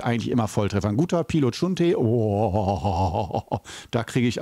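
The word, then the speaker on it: Biluochun: So habe ich dann meine Geschichte und zwar Pilo Chun, auch manchmal Bilo Chun oder so. Es wird unterschiedlich geschrieben von Teeladen zu Teeladen, aber ausgesprochen meistens so Pi, Lo, Chun oder Chun geschrieben.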